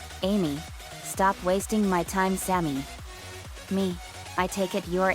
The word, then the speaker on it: Sammy: twin cheerleader girls came Sammy my name is pronounced Sammy Sammy was the nice